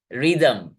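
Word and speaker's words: rhythm: दो सिलेबल्स होंगे फिर अगला है रिदम री दम री ए ए दम दम दम अ यहां पर कोई भी स्पेलिंग नहीं है टी एच एम के बीच में लेकिन वहां पर एक साउंड है जम जम अ तो यहां पर भी कितने हैं दो सिलेबल्स है ये थोड़ा सा मुश्किल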